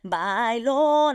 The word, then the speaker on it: Bailon: So Adrienne Bailon, I love even pronouncing it the way we pronounce Bailon, and that you say it Bailon.